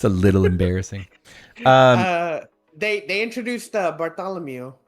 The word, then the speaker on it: Bartolomeo: They introduced Bartholomew. Bartolomeo. Bartolomeo. I hate that. That's how you pronounce it, dog.